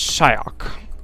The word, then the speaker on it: Xiaokk: Shak I know I know Asians pronounce their XI is shy it said like how Americans would do like like make like a q noise if that makes any sense but it's Shak anyway shyak already mixing things